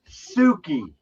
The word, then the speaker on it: Suki: Hey, and when you see my name in chat, it's pronounced Suki.